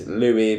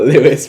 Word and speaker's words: Louis: tommy tommy hey tommy and it's louie but it doesn't matter it's not lewis but it's louis doesn't matter anyway we all get